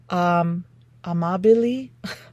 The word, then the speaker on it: Amabile: Harvard researcher Teresa Amabile, I had to look up how to pronounce her name.